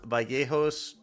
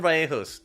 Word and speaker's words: Vallejos: I'm not gonna pronounce it the way you Argentines do. It's a fucking Y, not a J sound, you motherfuckers. Kevin Vallejos ends.